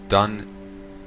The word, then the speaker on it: Dungarroch: I keep saying it wrong. Dungarroch, and search for evidence of a haunting.